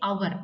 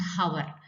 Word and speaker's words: hour: here an hour see it starts with h but h is silent over there we we say our not hover so that's why we